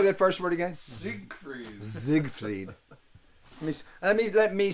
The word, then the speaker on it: Siegfried: see we'll say that first word again siegfried zigfried let me let me say it correctly zigfried